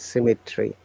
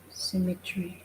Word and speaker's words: cemetery: Okay, the spelling is cemetery, but pronounced as symmetry. Symmetry.